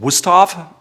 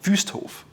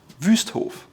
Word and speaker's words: Wüsthof: A lot of Americans call it Wusthof, but it's actually called Wüsthof. Wüsthof. It's Ü, it's the umlaut Ü, Wüsthof.